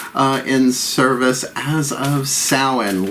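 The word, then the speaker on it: Samhain: in service as of Salin look it up s-a-m-h-a-i-n I know it don't sound how it looks like it's spelled uh uh I am the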